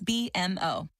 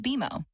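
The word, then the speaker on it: BMO: when you do I bet you'll call us BM o don't worry it's more common than you think but we actually pronounce it beo as in with beo you can earn a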